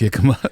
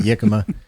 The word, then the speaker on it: jicama: No, I love jicama when it's raw. I believe it's pronounced. When it's cooked, it tastes like water chestnuts. I hate it. I believe it's pronounced yikama. Yeah, that's right, yicama.